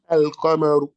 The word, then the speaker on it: القمر: القمر. We are pronouncing the lam, yes or no?